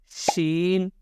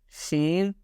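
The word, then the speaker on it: ش: And the answer is pronounced from middle part of your tongue, touching the middle part of your plate.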